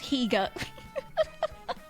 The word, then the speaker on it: Geega: I'm sorry, can you pronounce his name properly? It's Geega. Ah, yes, Geega.